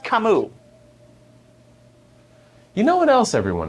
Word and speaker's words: Camus: Also, it's pronounced Camus.